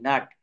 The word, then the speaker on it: nut: NUT, নাট, CUT, খাট।